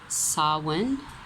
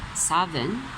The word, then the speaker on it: Samhain: Celts pronounced it Samhain. Some people pronounce it Samhain.